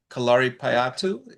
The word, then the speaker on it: Kalaripayattu: So in you are in Kerala and in Kerala I know uh that the martial art of kalari patu did I pronounce that correct?